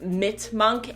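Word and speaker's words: Mitmunk: to go through is I believe she's pronounced MIT monk MIT M UNK they have all these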